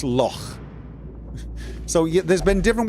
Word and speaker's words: Loch: They don't say Loch Ness, but it's a cross between lock and a snort. It's Loch.